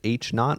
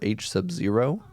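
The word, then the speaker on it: H₀: form right there null hypothesis is h naught pronounced h naught or h sub zero it's uh said in different ways with different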